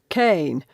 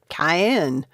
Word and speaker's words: Kane: the gaming term wrecked kane like a cane you walk with another pro member asked with a chuckle all this time i've been pronouncing it cayenne ari covered her mouth